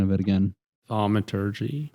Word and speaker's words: Thaumaturgy: You guys are I'm gonna butcher the pronunciation of it again. Thaumaturgy. Thaumaturgy.